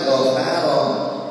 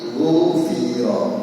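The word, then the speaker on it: غُفِرَ: Seharusnya bukan ghafaro tetapi ghufira, bukan ghafar ya.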